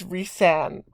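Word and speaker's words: Rhysand: of the book and how she pronounces it is like reese so it sounds like r-e-e-s-e even though it's spelled way differently but anyways um i really love resand he is a really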